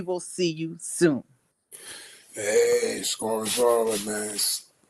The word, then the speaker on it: SCAURA: Hey, Scorers Aura, man. Shopify, Scorer, but it's spelled different. SCAURA. That's the store. I put it together. I put the SC from Scorer and the Aura.